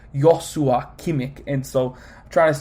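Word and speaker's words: Joshua Kimmich: uh kimik uh I I recently saw a video that was saying how they say his name when he was winning the defensive player of the year and it was like weird it was like yosua kimick and so I'm trying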